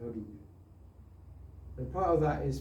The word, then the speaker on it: hygge: Somebody was talking about the Danish concept of hygge. That's how you pronounce it, hygge.